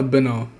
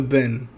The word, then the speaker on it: Benn: point like uh if Connor Benner Oh, why do I keep saying his name wrong, bro? If Connor Ben gave Eubank such a